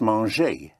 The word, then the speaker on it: manger: To eat is manger. To munch, to eat. Manger is spelled like manger.